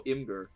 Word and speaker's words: Imgur: pronounce it as your Imager I pronounce it as a two-syllable word I guess if you pronounce it as imager that's like three syllables I just go Imgur just put in an